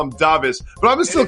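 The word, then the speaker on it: Dāvis: First of all, I've been calling him Davis his entire career. We got a note today that his first name is pronounced Davis. That's brand new to me.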